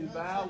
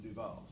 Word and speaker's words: DuVal: so does not matter dual or dual dual would be dual would be the more correct pronunciation in French I'm pretty certain that the family just C him duall I know I made